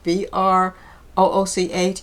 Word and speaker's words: brooch: Um, I appreciate all of your wonderful feedback on the on the brooches. I have learned how to say it. Even though it's spelled B R O O C H is pronounced brooch.